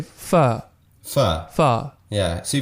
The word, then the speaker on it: pho: Pho. Pho. Yeah. See, It's a very weird, like, vowel. I think it's in between an A, O, pho.